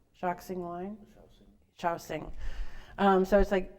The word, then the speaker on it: Shaoxing: Shaoxing.